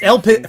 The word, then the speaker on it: Elpiz: It's Elpiz. First of all, it's Elpiz. All right. Elpiz. Elpiz. Elpiz. Elpiz. Okay. Yeah. Hi Elpiz, like Riz.